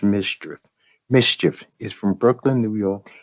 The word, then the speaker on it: MSCHF: that's bogus now this company mschf which is pronounced mischief mschf pronounced mischief is from brooklyn new